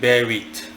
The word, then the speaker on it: Berith: Berith, the 28th spirit in order as Solomon bound them, is named Berith. He is a mighty, great and terrible duke, that's spelled B-E-R-I-T-H.